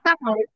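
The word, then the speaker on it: كَ: Iya, kak, kak, kak. Dan harus dibaca fathah. Yang menjadi harap jar dibacanya kaf. Gak dibaca ki, gak dibaca ku. Dibacanya ka dan ada di awal kalimat.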